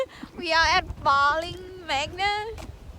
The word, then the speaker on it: Barling Magna: We are at Bowling Magna. How I pronounce it's right? Yeah, Barling Magna.